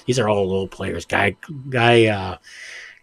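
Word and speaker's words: Guy Carbonneau: Guy Carbonone, Guy Carbonone, I believe is how it's pronounced.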